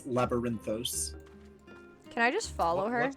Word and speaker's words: Labyrinthos: For pronunciation's sake, it is Labyrinthos.